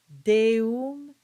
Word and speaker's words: deum: The basic rule of thumb is that you keep the original sound of each vowel. So for instance, you get meam, mei, mortuos, deum, and tua.